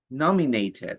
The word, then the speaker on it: nominated: The actor has been nominated for an Oscar. Nominated. Nominated. You have to pronounce the E.